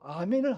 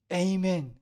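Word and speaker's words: Amen: 게임엔 아멘 다양하게 합니다 어떤 발음이 정확한 영어 바랍니다 아멘 이니까 에임 애니까 이걸 가지고 또 논쟁 하는 사람들이 있습니다 4 정확히 a man 아멘 둘 중에 어떤 것이 어느 학적으로 정확한 발음 인지는 모르지만 여전히 그 뜻은 동일합니다 에이멘 하든지 아멘 하든지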